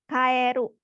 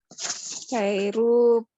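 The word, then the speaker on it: 帰る: Tapi ada yang harus diperhatikan yaitu ini, kata kerja ini dibacanya kaeru. Kaeru artinya apa tadi Maulidatsang? Kairu pulang.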